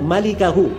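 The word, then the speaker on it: مالكه: Itu bukan bacanya illa mulkahu. Memang mim, lam, kaf, ha. Tapi bukan mulkahu bacanya. Bacanya illa malikahu.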